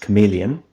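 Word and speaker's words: CM3leon: by a model called cm3 Leon which is pronounced chameleon uh which was Then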